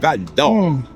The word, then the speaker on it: Val-d'Or: You gotta say it with the accent, Val-d'Or.